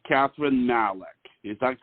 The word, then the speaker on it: Malek: I'll jump in, and I'm Kathryn Malek, and you did pronounce it perfectly well, and it's so polite of you and so nice of you to check, because you never know.